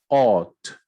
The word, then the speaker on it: ought: Ought, right? The GH not spoken.